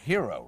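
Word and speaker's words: Hiro: about this baby here hero right hero hero but is spelled H iro and he is approximately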